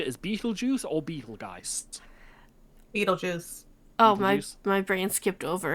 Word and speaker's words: Betelgeuse: film you can see it's written like it is in Hitchhikers after the planetary system, but it's pronounced Beetlejuice.